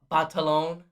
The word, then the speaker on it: Batalon: and jacob battle on or as he pronounced it on some interview batalon fantastic fantastic performances zendaya